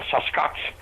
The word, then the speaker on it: Sasquatch: the hills called the Sasquatch. The best way to pronounce it is take the word bucket, drop the B, and add SAS to the beginning, Sasquatch.